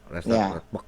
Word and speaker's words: Radbruch: Ya, itu tulisannya Radbruch gitu. Tapi Radbruch. bahasa Jerman, ya, bahasa Jerman. Bacanya Bach. Bach, ya. Radbach.